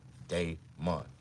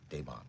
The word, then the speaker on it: Damon: Put the D-A-Y in front of the M-O-N. Now say it loud. Damon. Damon. That's the way you say my name. Not that hard. If you can say Monday, if you can pronounce Monday, nigga, you can pronounce my real name.